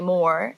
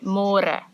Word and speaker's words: môre: It's a little bit easier, but you have to remember to read môre, because in English it's spelled like more. So don't say more, say more.